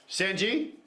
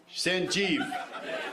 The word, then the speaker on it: Sanjeev: Sanji. Sanji. Did I nail it? Sanvi. Sanjeev. Dude, you said it wrong 3 times. Yeah.